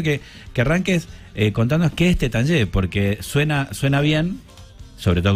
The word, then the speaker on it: Taittinger: La bodega se escribe Taittinger, pero se pronuncia Tétanger.